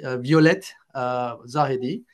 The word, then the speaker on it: Violette Zahedi: Violette Zahedi. I pronounce it like a French, you know, with my French accent. So maybe, sorry, I don't pronounce it properly. In French, we say Violette Zahedi.